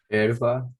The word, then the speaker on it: hierba: Entonces hay una regla en el español que indica que ninguna sílaba pueda empezar con S más consonante. Muy bien, número 19. Herba. Hierba.